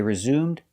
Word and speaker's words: resume: after the storm pronunciation the stress is on the second syllable resume resume the e is silent it's following the rule silent e at the end resume the s is pronounced as a zebra z with a voice resume they resumed the